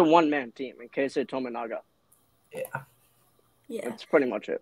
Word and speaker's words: Tominaga: I mean, in some games, it's someone other than don't want to say his name wrong. Jack said it before. Tominaga. Number 30. Tominaga. They say Tominaga.